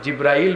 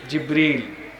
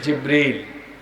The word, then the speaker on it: জিবরীল: ফেরেশতার নাম এসেছে জিবরীল আমরা অনেকে ভুল উচ্চারণ করি জিব্রাইল বলে ফেলি কিন্তু এই ফেরেশতার সঠিক নাম শুদ্ধ উচ্চারণ হলো জিবরীল বলেন সবাই বলেন জিবরীল নবীজির সময়ে কোরআন সংরক্ষিত